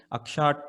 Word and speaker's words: Akxa: brief about our company akshat tech akxa is pronounced as aksha stands for eyes which